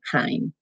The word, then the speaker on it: chyme: small particles that are called kine it rhymes with time and rhyme parsley stage rosemary and chyme it's supposed to be